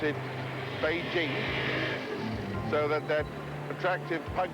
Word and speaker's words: Beijing: with the modern respect for other traditions we pronounce it Beijing so that that attractive pug noos little dog